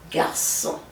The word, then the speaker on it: garçon: So anytime you see a cédille, it's a soft C. So you pronounce it garçon.